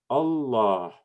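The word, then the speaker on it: الله: elif there is is not written but it's pronounced allah you can notice that there's the elephant in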